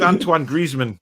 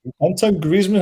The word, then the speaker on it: Antoine Griezmann: defects antoine griezmann tony it's antoine griezmann barry anton griezmann how do you pronounce his name he's french you're not you're not